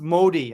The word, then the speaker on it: Modi: Okay, so it's pronounced Modi. I keep saying mi. I'm sorry, but I speak Japanese, not Italian.